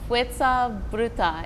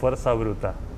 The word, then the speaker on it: Fuerza Bruta: FUERZA BRUTA, am I saying it right? Yes. Could you say it for us? FUERZA BRUTA.